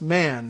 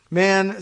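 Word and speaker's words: Mahan: Quarryville meeting less less man or Muhammad m-a-h-a-n usually I see pronounced man less man less man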